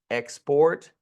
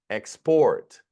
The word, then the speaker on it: export: Export. Export. Now, this is going to be interesting because the the accent changes depending on whether it's a verb or noun.